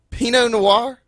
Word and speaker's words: Pinot Noir: Pinot Noir?